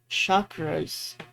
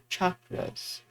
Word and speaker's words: chakras: And it's not pronounced chakras, it's chakras.